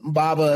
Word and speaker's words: baba: you say bubba watch what bobble wash and baba how do you spell that b-a-b-a and baba yeah so so baba